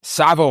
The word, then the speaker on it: Tsavo: Local jam band Savo Highway, that's spelled T-S-A-V-O, has their album release party for their new album Circles.